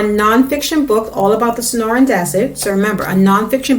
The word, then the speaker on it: Sonoran: you can look that it's supposed to be pronounced so it's sonoran in non-fiction text we might also see captions